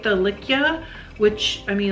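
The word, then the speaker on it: Lykke: I like the Likia, which, I mean, a lot of people say likey. Maybe I've got it wrong, but we heard from a lady that, from the dealer or whatever, that was supposed to be pronounced Likia.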